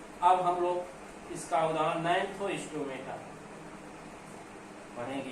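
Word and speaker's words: Gnathostomata: Mixing अब दूसरा उपसंघ है नैंथोस्टोमेटा। जी साइलेंट है इसमें, जैसे टेट्रोफाइटा में पी साइलेंट होता है।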